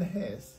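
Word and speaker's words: Hesse: German লেখক Swiss লেখক Harman হেস কেউ কেউ তার নামের শেষ অংশকে হেসে উচ্চারণ করতে পছন্দ করে এই বইয়ের একটি কপি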